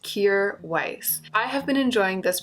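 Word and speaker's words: Kjaer Weis: to pronounce this brand it's pronounced cure Weiss I have been enjoying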